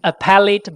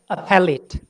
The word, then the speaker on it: appellate: In American English, it's read appellate. In English, in British accent, it's read appellate. In Chinglish, it's read appellate. Because this is the third syllable from the last.